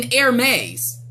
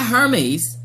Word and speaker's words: Hermès: look like you know I walked in ermes not hermès but ermes I walked in there